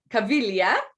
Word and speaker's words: Caviglia: a very special guest um this is roya cavillia as in you got it yeah right we just we just went over the pronunciation because i want to make sure i